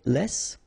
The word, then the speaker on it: les: C all right then if you want to say Les it's in French so no discussion about the S here don't pronounce it okay